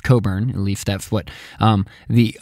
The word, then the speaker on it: Cockburn: Rear Admiral George Coburn which is spelled Cockburn but I believe it's pronounced Coburn at least that's what the British historians I have read and listened to pronounces we're going to go with Coburn recommended to Washington DC